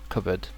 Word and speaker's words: cupboard: put it like this C bird cupboard yeah or maybe with a h but yeah cupboard and this is British pronunciation of course and I might